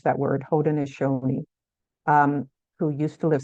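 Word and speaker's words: Haudenosaunee: 1600s they the hodon which that's how you pronounce that word hoden aoni um who used to live south of the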